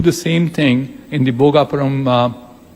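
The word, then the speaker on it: Bhogapuram: And precisely what SAP or the Seletar Aerospark has done, we can do the same thing in the Bogapuram Aerotropolis, that's how it's rightly pronounced.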